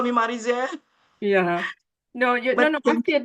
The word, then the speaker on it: Marizel: Yes, Marizel.